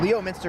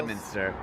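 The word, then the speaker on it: Leominster: 624, which was delivered in uh 1929 to Leo Minister, Massachusetts, which according to my Lemonster freaking Massachusetts and its weirdass pronunciation.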